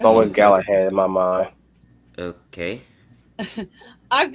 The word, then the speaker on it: Galahad: That's how you pronounce his name. Sir Galahad.